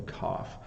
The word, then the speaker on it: cough: because in English um we often change how we use the GH right sometimes it makes no sound uh like in though and then sometimes it makes the f f sound as in cough so cough there you